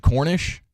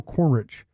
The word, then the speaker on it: Cornrich: corich wait what is is it Cornish yes well I saying it wrong Neil cornrich c r n r i cornr Neil cornr well